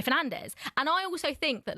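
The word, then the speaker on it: Fernandes: His name in Portuguese is Bruno Fernanch, but are we going to call him Bruno Fernanch? I don't think we are. We're going to call him like our the Englishized is that the right word version? Uh, which is Bruno Fernandez.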